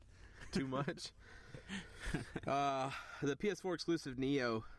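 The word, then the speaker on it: Nioh: The PS4 exclusive Neo, not PS4 Pro, but Neo. Right. Spell it out.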